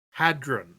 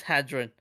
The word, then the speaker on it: hadron: Hadron. Hydron. What? Hi, as in H-Y. Hi. No, it's not. We're gonna continue. We're gonna start fighting over like what's the right pronunciation. What's that? Hadron. I thought it was Hydron. No, it never has been. What parallel universe have you come from? Maybe the one that... Oh, okay, it is Hadron.